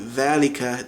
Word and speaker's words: dhalika: So thal, it becomes a Z sound. So instead of saying dhalika, they would say zalika.